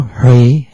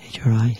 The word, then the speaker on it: Hri: With the central Hri, H-R-I, Hri, Hri, ablaze with light, that's the seed syllable.